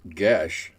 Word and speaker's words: geas: while working on it I found out it's actually pronounced G blame the Irish yeah well you know